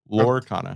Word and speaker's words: Lorcana: Lorcana. Yes. That's what I said. 2 syllables, not 3. So anyway.